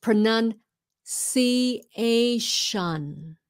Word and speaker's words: pronunciation: Nhưng mà it's pronunciation. Yeah, pronunciation. There you go. TION at the end of any word is shun. Shun. Yeah, shun.